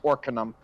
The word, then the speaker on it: Arcanum: the A is pronounced with an O. It's Arcanum.